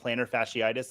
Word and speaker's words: plantar fasciitis: Plantar fasciitis.